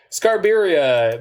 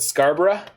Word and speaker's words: Scarborough: oh I don't know I find that pronunciation of Scarborough to be very disconcerting restore balance yikes scar birria makes me smile so I'm cool with scar birria but scar bruh are you going to Scarborough Fair parsley sage rosemary and